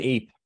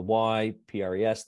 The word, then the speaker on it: Ypres: It's also known as Ypres with a Y, P-R-E-S, which is the French spelling. And if you're a British, we pronounce it Ypres.